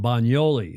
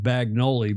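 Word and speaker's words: Bagnoli: It's it looks like Bagoli, but if you look as Stingray and I went online this morning to see what u see what the proper pronunciation of B A G N O L I. It's bioli. It's like canyon.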